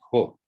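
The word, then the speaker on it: ὁ: It can't be o. The breathing mark points that way. And so o never stands on its own. It's always ho. So when you see a single Omicron, you can immediately pronounce ho without even wondering about it.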